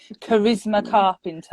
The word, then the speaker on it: Charisma Carpenter: So, and the role of Delilah was originally written for, again, sorry if I pronounce this wrong, is it Charisma Carpenter?